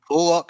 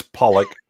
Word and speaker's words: Pollock: Kevin Pock. Is that how you pronounce that? That was Pollock.